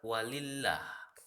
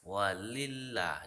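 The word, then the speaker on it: ولله: Nah, contohnya tarkik dan tafhim misalnya di kalimat walillah. Walillah. Jadi la di situ dibaca tidak tebal. Itu namanya tarkik.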